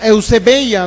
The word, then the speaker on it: eusebeia: en el griego es la palabra que se pronuncia eusebeia así más o menos o se escribe ebella